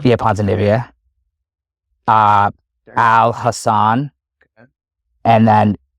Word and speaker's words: Ponzinibbio: I'll do Harris's opponent because I can't pronounce his name. Okay, so it's Ponzinibbio. Yeah, Ponzinibbia.